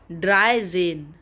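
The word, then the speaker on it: dreizehn: zolf d-r-i-e-z-e-h-n is 13 in german and its pronunciation is dry zine dry zine v i e r z e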